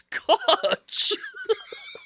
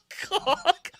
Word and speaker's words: Koch: It's Koch. It's not Cock. Koch is Koch Records, man. Yo, so when you There's talk no about Kevin way you O'Connor, you call him, man. You call him Koch?